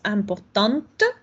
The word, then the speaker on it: important: Cuando escuchamos importante, es porque la E no le estoy diciendo. Si yo tuviera masculino, sería important. Me queda hasta el sonido nasal. ¿Por qué? Porque la T no la estoy diciendo.